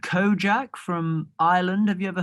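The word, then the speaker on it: Kojaque: there's this dude called kojak from ireland have you ever heard of him it's spelt like u k-o-j-a-q-u-e and he's incredible i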